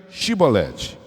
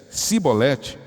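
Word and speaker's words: shibboleth: respondesse que não diz então diga shibolet e eles di e eles dissessem sibolete sem conseguir pronunciar corretamente a palavra prendiam e matava no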